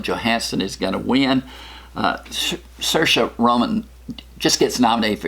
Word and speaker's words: Saoirse: For Best Actress, Cynthia Erivo in Harriet, Scarlett Johansson in Marriage Story, Saoirse Ronan, rhymes with inertia, Saoirse Ronan in Little Women, Charlize Theron in Bombshell, and Renee Zellweger in Judy.